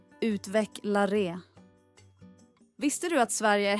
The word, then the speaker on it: utvecklare: Uttalet är utvecklaré.